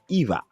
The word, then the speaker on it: Ewa: of course it was it's pronounced eva yes i just want to